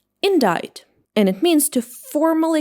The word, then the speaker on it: indict: It should be pronounced like indict indict.